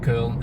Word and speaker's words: Köln: in the direction of Köln and Koblenz, or should I say Cologne in English. You should say it like full German.